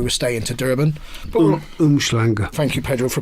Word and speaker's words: Umhlanga: But Umhlanga. Thank you, Pedro, for pronouncing it correctly.